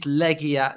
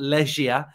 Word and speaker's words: Legia: to make sure that I pronounce it legia it is legia not Leisure uh so hopefully I've